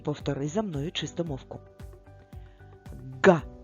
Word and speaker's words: ґ: промовимо його ще раз ґ ґ цей звук дуже схожий на звук г правда але вимовляється він набагато голосніше та дзвінкіше Ґ який він голосний